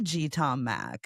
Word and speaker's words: G Tom Mac: I like the GT Tom Mac. It's, you know, Oh, it's Yeah. You know, it's like Fleetwood Mac, but it it's got three syllables.